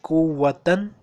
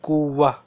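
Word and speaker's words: قوة: Okay, so We write it like kuwatan, but we pronounce it like kuwa. Okay? So remember, when this round ta is at the end, we pronounce it like ha. So kuwatan is written but pronounced kuwa.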